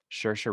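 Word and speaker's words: Saoirse: that starred um i'm i always say her name wrong shirsha ronan that's right yeah sure ronan emma watson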